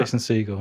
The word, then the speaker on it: Jason Segel: Is that Is that Jason Segel, yeah.